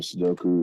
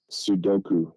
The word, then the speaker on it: Sudoku: the operator slash attendant um was either playing soku or doing some bookkeeping couldn't read though playing snooker soku spell it Sudoku it's in the title s u d o